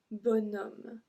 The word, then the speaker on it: bonhomme: Un bonhomme. Un bon homme. So we are supposed to say un bon homme, but we actually pronounce bon, B-O-N, bonhomme.